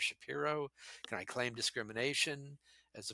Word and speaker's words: Shapiro: and say you know you pronounce my name shapy instead of Shapiro can I claim discrimination